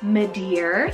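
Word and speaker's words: Madear: Spanish rooted name meaning baby girl we have medar spell m a d e a r medar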